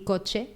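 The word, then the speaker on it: kotse: cuchara y coche. Pero coche se escribe como K-O-T-S-E. Coche. Oh, coche. Curioso. Pero se pronuncia coche.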